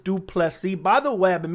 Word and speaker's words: Du Plessis: It is Dricus Du Plessis. That is how it's pronounced.